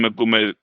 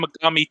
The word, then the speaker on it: Megami: You know, like what it's a Shin Megumi Tensei or whatever. I Yeah. never know how to say it. Oh, Shin Megami Yeah, Tensei.